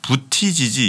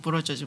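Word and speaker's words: Buttigieg: 저 인터넷에 검색하실 때는 부티지지 이렇게 검색하시 예, 부티지지로 쓰시면 아마 검색은 왜냐면 아이가 있으니까 네. 부티지지인데 빠르게 발음해서 뭐 부러져지 뭐 이렇게 얘기하는데 뭐 상관없어요.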